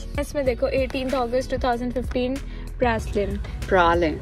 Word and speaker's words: Praslin: इसमें देखो 18th August 2015 Praslin. Prolin. Spelling कुछ और होती है और pronunciation कुछ और होती है.